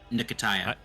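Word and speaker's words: Nketiaya: Or do I pronounce the K? Or do I do both? Pretend there's an I in front of it. Nikia. Nkitaya. Typically, yeah, I was gonna say you Okay. typically would just pronounce the N as if it was N, and then yeah, Nikitaya.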